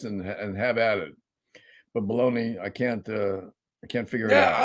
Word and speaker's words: Bologna: you gotta spell it Bologna and pronounce it Bologna.